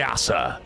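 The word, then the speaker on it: Æsir: Yeah, they're the Asser. Yeah, that's how they're pronounced, I think.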